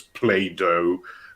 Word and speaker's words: Plato: you don't, but still, Platon sounds much cooler than Plato. Notwithstanding, of course, that in American dialects you pronounce it as Play-Doh, right? Because Right. Play-Doh. So that is one of my pet peeves with English, making names sound much less cool by removing the N.